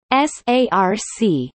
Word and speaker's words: src: Phosphorylation of SRC tyrosine kinase pronounced SARC by C-terminal SRC kinase